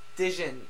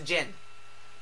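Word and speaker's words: Djinn: The D is silent. It's a Jin.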